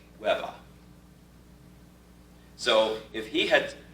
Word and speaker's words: Weber: In New York City, the way that the Weber name would be pronounced would be Webba.